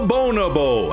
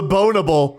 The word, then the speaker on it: bonobo: Bob the Bonobo had a curious quirk. Do you mean bonobo? A bonobo. Bonobo. Bonobo. I think you said Bob the Bonable. I hate the way you say that word so much.